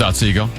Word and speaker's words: Otsego: A lot of people are telling me it is Otsego. It's Otsego.